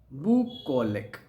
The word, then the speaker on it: bucolic: Next word, bucolic. Bucolic. Biocolic, and that is the pronunciation biocolic.